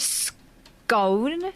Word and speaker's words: scone: The word scone, spelt phonetically so you can read it correctly. Scone. It's the word cone with an S on the front.